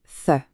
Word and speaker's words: ث: Le son du th, c'est le fameux the. Pour le produire, il faut juste placer le bout de la langue entre les dents et souffler doucement.